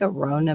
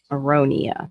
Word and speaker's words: aronia: I like Arona berries. They're supposed to be they're super, super dark. Aronia, that's how you say it.